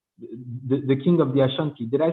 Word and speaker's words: Ashanti: of the ascent the the king of the ashanti did i say it right yes that's what